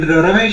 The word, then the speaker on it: Ramesh: In Ramesh, A is silent. It's a Sanskrit name, so if you add A, it becomes a kind of, in US it becomes a female's name.